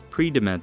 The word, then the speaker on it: Predimed: The famous “Predimed” study (pronounced pre-di-med) trialled the benefits of olive oil over 5 years.